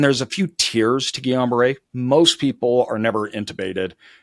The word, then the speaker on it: Guillain-Barré: Guillain-Barré. Guillain-Barré? Guillain-Barré. Guillain-Barré. I was way off. French name. French name.